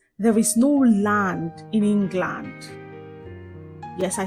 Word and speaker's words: England: However, the L A N D in these words is not pronounced as land. The letter A in that word land takes the uh uh the schwa sound. So we go learned learned and not land.